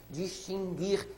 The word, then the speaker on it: distinguir: um pouco mais difícil distinguir e extinguir esses dois verbos tem a mesma raiz nãoé distinguir extinguir a letra U não é pronunciada então não pode ganhar o trema querida querida então não